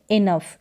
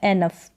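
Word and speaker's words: enough: टॉफ करके नहीं पढ़ेंगे अब इसको इनफ क्या पढ़ेंगे इनफ इनफ या एनफ दोनों तरीके से उच्चारण होता है अफ करके ओ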